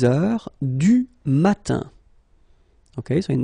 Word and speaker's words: heure: All right, so heure, you write it like that. Remember, H is not pronounced, okay?